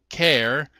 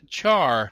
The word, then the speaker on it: char: the CH r as care others as Char I use care because the name is short for character the normal normal length